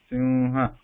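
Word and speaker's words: सिंह: So here you know that there is a Anusvara here, and after that there is a ha. So Anusvara is following E sound. So sim is there, and then there is a ha. Simha.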